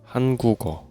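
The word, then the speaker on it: 한국어: So, when we pronounce we say Han gu geo. Hangugo.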